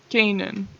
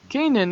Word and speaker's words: Canaan: that ahead of time Kanan anime on Amazon Prime now for some reason and yes I'm pronouncing it like that because the dub does it's a lot like